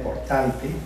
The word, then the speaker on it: Portante: Bajo influencia de Italia, nace Gian Portante, así lo pronuncia él, Portante, desde Portan, porque es la sentencia italiana.